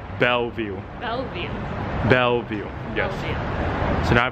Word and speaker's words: Bellevue: called Belleville place no I was calling it Bella View but people are saying it's called Bellevue so now I pronounce